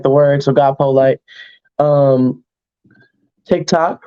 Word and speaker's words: Polite: but polite like the word, because I always have my manners. And Twitter is God polite like the word, so God polite.